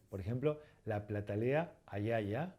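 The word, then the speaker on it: ajaja: término de más moderno, la pronunciamos como I. Por ejemplo, la Platalea ayaya o por ejemplo, el Phoenicoparrus yamesi.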